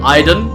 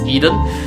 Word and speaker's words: Eden: can be fed to Iden Eden sorry keep mispronouncing it it's Eden so if you hav